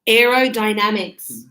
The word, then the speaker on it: aerodynamics: Aerodynamics. Aerodynamics. Aerodynamics. Oh, aero. No, not a dynamics. Dynamics. Die. Die. Die. Damics. Dynamics. Aer dynamic. And the S on the end.